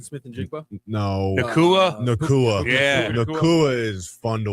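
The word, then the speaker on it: Puka Nacua: Nakua.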